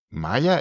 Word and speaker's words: Maya: O sea, Maya tiene, perdón, Maya, lo pronunció muy en argentino.